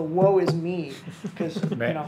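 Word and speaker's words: Woisme: The I'll spell it W-O-I-S-M-E. I'm pretty sure that was pronounced the woe is me.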